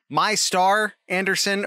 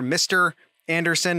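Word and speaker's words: Mistar Anderson: if this is supposed to be pronounced my star anderson or mr anderson it's because it is spelled with an a that's m i s t a r space anderson uh but the name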